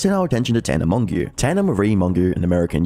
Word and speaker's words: Mongeau: It's funny because in my very first Idubbbz, I was like, "It's Mongo, guys. Get it right."